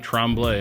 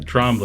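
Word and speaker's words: Trombley: Smugglers Notch Resort, Trombllay. Am I pronouncing your name correctly? Uh, Trombli. I I appreciate the French little tone.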